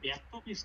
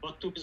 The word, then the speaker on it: বদতমিজ: না, ব্যর্থমিজ হলো অশুদ্ধ আর বদতমিজ হলো শুদ্ধ।